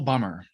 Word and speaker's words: Bummer: It's Michael Bummer. Michael Bummer. Okay, see, he's got a couple of different ways that he goes, so I wanted to make sure. So let me tell you about Michael Bummer.